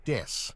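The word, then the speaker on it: です: An example is that when Babymetal introduces themselves, they will use a pun with the English word death instead of the Japanese word des, ベビーメタルです as des means I am or we are and is pronounced similarly.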